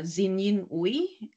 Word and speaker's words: Xin Yin: get the pronunciation right my full name is uh zinin uh most people in